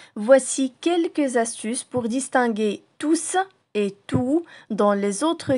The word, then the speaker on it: tous: parfois le s de tout ça donnera quand prononciation tous il prend alors le sens de tout le